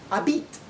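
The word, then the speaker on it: habitent: Both of these words is pronounced the same way, habite. They don't pronounce the ENT at the end of the third person plural.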